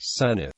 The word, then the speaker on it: Senedd: In Wales, the National Assembly for Wales debating chamber is called the Senedd, pronounced Senate.